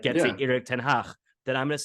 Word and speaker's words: Erik ten Hag: Like our manager, he would pronounce his name Erik ten Hag.